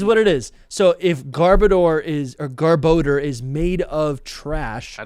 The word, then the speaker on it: Garbodor: So if Garbodor is made of trash, I don't know how to say it actually. I think Garbodor makes sense. I say Garbodor like Gardevoir.